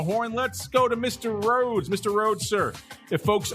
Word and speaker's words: Rhoads: he's just at RADS two s's two L's and then RADS he's got to spell it the funky way r h o a DS is where you can